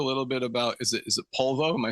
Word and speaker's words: Polvo: Can we talk a little bit about, is it Polvo? Am I saying it right? Polvo, yeah.